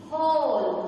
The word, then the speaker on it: whole: So here the letter W is silent letter.